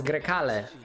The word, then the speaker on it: Grecale: Grekale. How would English people pronounce this? Grekale? Grisale? I mean, I'm not saying like, you know, like without being told. Yeah, Italian is Grecale, but you know.